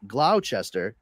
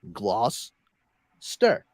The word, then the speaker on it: Gloucester: worse stir Worcester Worcester same thing with Gloucester it's not Gloucester it's gloss stir Gloucester as a kid I gave